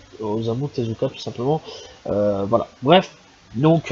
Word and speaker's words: Osamu Tezuka: l'enfant trois yeux de Dosamu Tezuka tout simplement. Excusez-moi pour la prononciation dégueulasse. C'est Osamu Tezuka tout simplement.